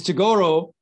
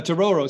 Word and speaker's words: Tororo: from that district so this is togoro uh tororo sorry i do like that pronunciation right tororo district there's there's this